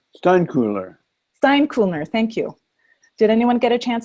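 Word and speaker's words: Steinkuehler: Candace, and I can't ever pronounce her last name right. Steinlicker? Steinkuhler.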